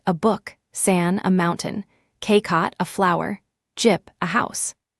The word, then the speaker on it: 꽃: It is spelled with a final chiat, the CH letter, but remember that in the bachem position the whole T group, including CH, collapses to a held T sound, so this word is pronounced K-kot, not K-cock. It means flower. The fourth is jip, meaning